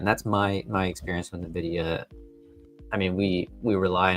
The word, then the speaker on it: Nvidia: Um but pronounced Nvidia. So, the people on the customer support line were right. I was over here telling them Nvidia and they're probably thinking I'm silly.